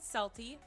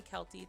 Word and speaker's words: Celty: Um, I know that people can call me Kely, too, I guess, but I pronounce it Selty because it's I actually um have my character not my character, my name. It's my name.